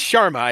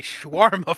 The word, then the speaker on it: Sharma: It's Sharma. It's Sharma. Definitely Sharma. But for some reason, my mind keeps wanting to say schwarma for some reason.